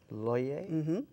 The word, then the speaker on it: Looye: your name and funu my name is loer loer and funu kind of Rhymes um funu yes you